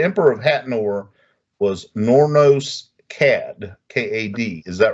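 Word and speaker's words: Kad: Now, the Emperor of Hatnor was Nornos Cad, K-A-D. Is that right? Right. The way I pronounced it.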